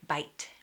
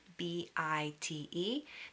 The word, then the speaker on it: bite: Another example is the word bite, B-I-T-E. That E makes the I sound long like bite. Without the E, the word will be bit, the short sound, bit. So it really changes it.